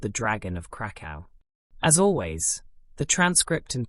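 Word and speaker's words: Kraków: Krakow is a city in Poland, and that is, I believe, the correct pronunciation of the name. But it's a bit annoying to have to say a Polish word in the middle of an English sentence every time I want to talk about the city. So, for the rest of the episode, I will be using the normal English pronunciation, Krakow.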